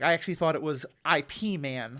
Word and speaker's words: Ip Man: is IPM yeah um it just happens to be pronounced like our word man well it's not it's